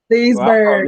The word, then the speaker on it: Leesburg: Leesburg. I'm giving Rob the side. It depends where you're from if you pronounce the G. Where I'm from, Leesburg. They don't pronounce the G.